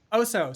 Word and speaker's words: Oso: Is it Oso or Oso? So Oso.